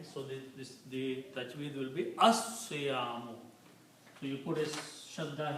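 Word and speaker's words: الصيام: And when you pronounce these, because Swad is a Shamsi letter, so you don't pronounce Lam, but you pronounce Swad 2 times. Okay, so the tajweed will be As-Siyamu.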